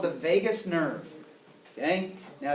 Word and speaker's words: vagus: stem it's called the vagus nerve okay now it is not spelled like Las Vegas it's v-a-g-u-s okay your vagus nerve